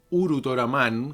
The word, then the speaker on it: Ultraman: de este personaje ultraman ultraman uru toraman como se pronuncia en japonés comenzó siendo una serie